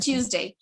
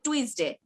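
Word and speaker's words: Tuesday: আমরা 7 days এর মধ্যে একটা খুব বেশি ভুল করি, সেটা হচ্ছে টিউসডে, আমরা বলি টুইসডে। হ্যাঁ, এটা হবে টিউসডে, উল্টা হবে টিউসডে।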